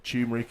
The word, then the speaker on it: turmeric: like glucosamine and plenty turmeric or tumeric if you want to pronounce it that way - yeah to reduce inflammation there you go dr.